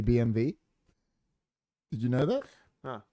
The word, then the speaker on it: BMW: not actually BMW because in German that's pronounced it's actually BMV did you know that